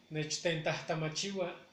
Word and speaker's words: Nechtentahtamachiwa: me arremedes la pronunciación, Nechtentahtamachigua. Imagínate pronunciar una palabra así, inclusive hay palabras más complicadas. Vuelvo a repetir esta por sílaba para que puedan pronunciarla y practicarla en casa. Nech, ten, tahtama, chiwa.